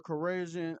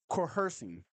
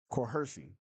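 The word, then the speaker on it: coercion: Um he he was in there saying no, it wasn't force or corrosion uh or or cor I'm saying it wrong. Coercing. Coercing. That's how you say the word.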